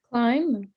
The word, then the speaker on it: climb: Climb. Excellent. Which letter is not pronounced? The B.